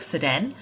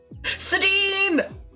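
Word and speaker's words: Sedene: wrong, because I was calling her like Sedan, and you were like, no, Keiko, you're doing it wrong. But I forgot what the correction was. Sedine! Did I say it right then the second time?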